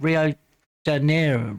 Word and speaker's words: Rio de Janeiro: Rio de Janeiro Rio de Janeiro.